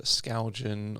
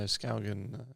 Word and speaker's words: Skaugen: people go Skaugen or something like that, but no, Skaugen, yeah.